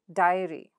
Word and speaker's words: diary: So where does the stress come? So ary comes here. Look at this, ary, right? So now where does the syllable stress go? The syllable that's right before the suffix. So here it is, pri. And in the second word, it's die. So where do you stress and how do you stress and how do you pronounce it? Primary, primary. Diary, diary.